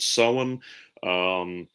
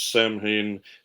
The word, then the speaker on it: Samhain: Particularly, they had an autumn festival called Samhain. You'll hear a lot of people mispronounce that as Samhain.